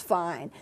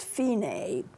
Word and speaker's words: Fine: F I and II like fine but it's not pronounced fine it's pronounced Fein a and let's see DSL